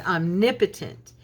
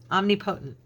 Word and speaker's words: omnipotent: Oh my gosh, the word omnipotent. I had learned how to say it wrong. I'm embarrassed to tell you guys. I had learned how to say it omnipotent. That's how I pronounced it.